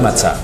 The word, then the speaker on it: matzah: Es matzah, pero lo pronunciamos matzó.